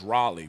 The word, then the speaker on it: Raleigh: seal from iuic um riley riley north carolina somebody oh it's raleigh we say riley in mississippi right it's raleigh okay i say it right it's r it's raleigh r-a-l-e-i-g-h i think i'm right